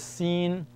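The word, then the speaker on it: س: the next one is seen s scen s like a hissing sound scen s the same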